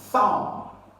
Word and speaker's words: thumb: this word option C thumb thumb B is equally silent here all right you cannot